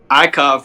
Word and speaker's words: IKOV: You pronounce it IKOV? IKOV, yep.